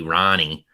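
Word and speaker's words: Rahne: So I think they're well coached with Ricky Ronnie, which I always think should be like Rain or something with how it's spelled, but then people say it and I'm like, oh, weird.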